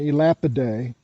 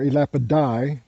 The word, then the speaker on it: Elapidae: address viper day and elapidae are elapid die pronounced both ways and these these two